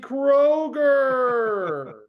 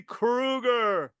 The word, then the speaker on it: Kroeger: uh don would say he would say my name in the opening credits Gary Krueger and I'd have to go up to him Don it it's Kroger that's what I said Gary no you said Krueger Kroger long o like